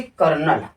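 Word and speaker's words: colonel: शब्द अगर हम देखें जैसे कर्नल। इसका स्पेलिंग क्या है? कॉलोनल। लेकिन इसको पढ़ते क्या है हम? कर्नल।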